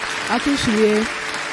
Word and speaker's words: Akinsulie: Akinsulie. Yeah. Well, you say whatever. Don't worry, I've had a chat with Daddy. You're American, you wouldn't know better. It's Akinsulie.